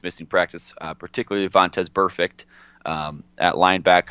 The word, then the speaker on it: Burfict: missing practice, particularly Vontez Burfict at linebacker. How do you pronounce that name one more time for me? It's the word perfect. Yeah. It's that with a B.